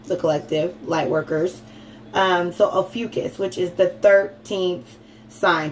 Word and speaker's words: Ophiuchus: And I don't think Ophiuchus, which is how it's pronounced, Ophiuchus gets enough clout.